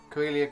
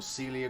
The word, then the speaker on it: Coelia: Carabag Crimson, Cassandora Yellow, Coelia Green Shade, or Celia Green Shade, how it probably should be pronounced.